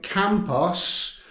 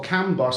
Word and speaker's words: Kambos: it's in the little village of campos which is or can boss i think it might be pronounced which they say is